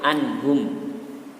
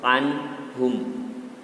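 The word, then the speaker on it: عنهم: Tidak boleh anhum. Tapi harus anhum. Jadi huruf ain itu letaknya berada di dalam kerongkongan. Anhum, tidak di rongga mulut.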